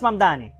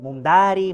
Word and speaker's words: Mamdani: Es Mamdani, pero a cada rato me dicen Mumdari, Mumnari.